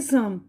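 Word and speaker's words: psalm: तरह ये जो है पी एस ए एल एम में पी और एल दोनों साइलेंट है तो इसमें जो पी और एल दोनों ही साइलेंट है इसका इसकी आवाज क्या आ रही है सम ठीक है ना अब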